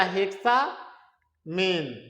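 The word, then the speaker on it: hexammine: सबसे पहले लिगेंड का नाम लिखते हैं, तो 6 लिगेंड यहाँ पे है बाबू, तो इसका नाम हो जाएगा हेक्सामीन, यानी एमीन है तो उसको एक को साइलेंट कर देते हैं, तो हेक्सामीन कोबाल्ट।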